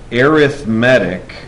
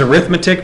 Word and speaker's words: arithmetic: of what are called arithmetic sums it's funny not it's the same word as arithmetic but you pronounce it differently you guys have a